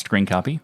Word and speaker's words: scrcpy: the latest release of screen copy or s-c-r-c-p-y i mean it is pronounced screen copy for those who are interested uh it has version